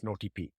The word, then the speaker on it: nOTP: solve this it introducing notp spelled as NP pronounced as notp the idea is to authenticate users in WhatsApp